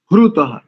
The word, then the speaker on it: हृतः: त्रायध्वन्नो दुरे वाया अभी ह्रु, ह्रुतः ऐसा, HRUTHA। अगर इंग्लिश के अल्फाबेट से आपको प्रोनाउंसिएशन बताऊं तो HRUTHA, ह्रुतः ऐसा हो जाएगा।